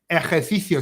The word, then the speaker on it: ejercicio: Ejercicio. So you've got to have the tongue out twice.